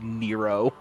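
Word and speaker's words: Nrvnqsr: according to the type moon wiki it is pronounced nero oh the beef is beef time let's go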